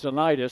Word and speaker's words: Denitis: and we've confirmed it we had been saying it correctly all along it's denitis so the PA announcer must